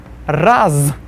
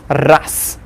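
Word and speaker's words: раз: Then the next one we've got raz versus ras. We see raz, since z is there at the end of the word, we'll pronounce it as ras.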